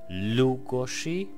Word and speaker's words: Lugosi: to this whole thing lugozshe and of course the S is pronounced - much like in Portuguese so if you are